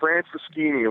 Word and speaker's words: Franceschini: It's Franceschini, long Italian name, Franceschini. Franceschini. Oh, yep, absolutely. say it like you're Italian, Franceschini.